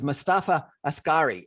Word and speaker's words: Mostafa Askari: My guest tonight is Mostafa Askari. Is that the right pronunciation, sure?